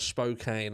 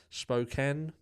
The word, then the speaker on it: Spokane: um that is said I know it's not Spokane I know the locals around that area spoken Washington so don't look you